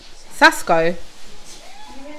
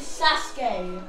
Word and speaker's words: Sasuke: Sasko.